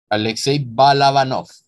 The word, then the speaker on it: Alekséi Balabánov: Vamos a hablar específicamente de Brat 1 de 1997, de su director Alexei Balaganov. Déjenme ver cómo se pronuncia el nombre. Se pronuncia Alexei Balabanov.